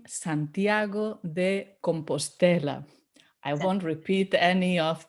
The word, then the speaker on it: Santiago de Compostela: santiago or if you want the full name santiago de compostela i won't repeat any of the wrong pronunciations i've heard just stay with santiago de